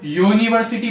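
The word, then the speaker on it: university: यूनिवर्सिटी को अपन यू से नहीं पढ़ते कभी भी, वाई ओ, यूनिवर्सिटी बोलते, यूनिवर्सिटी, वाई ओ यू एन आई वी आर सी टी, यूनिवर्सिटी। Pronunciation में हिंदी में देखो आप, यू है, वाई से शुरू होता है, यूनिवर्सिटी, इसलिए वाई वर्ड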